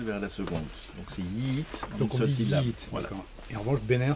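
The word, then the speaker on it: Yiğit: comment se prononce-t-il alors c'est un G mou comme on appelle en turc c'est en fait c'est une lettre qui ne se prononce pas qui fait la liaison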